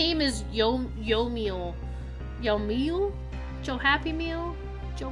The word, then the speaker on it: Yomiel: It's pronounced Yomiel.